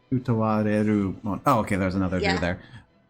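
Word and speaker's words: Utawarerumono: Oh, you're using syllables that I was not expecting. Utawareru mono.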